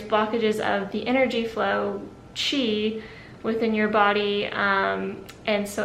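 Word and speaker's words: qi: there's something in acupuncture called chi it's spelled q i and basically the idea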